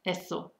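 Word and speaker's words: यस्तो: Actually, also interesting, you write yasto, but you spell it, you pronounce it as eso. The T is kind of silent.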